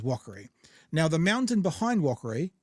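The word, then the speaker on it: Wakari: a r i and people call it Yer don't know how they get that from it but it was Walker now the mountain behind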